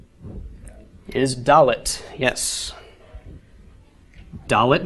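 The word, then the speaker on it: דלת: is dull it yes doll it makes the sound of the letter D as indoor numerical value is four and again note the tail in the top right doll 'it is the letter that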